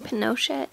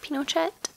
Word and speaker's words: Pinochet: my video last week kept putting the emphasis on the wrong syllable I think I was saying Pinochet instead of Pinochet and now that's gonna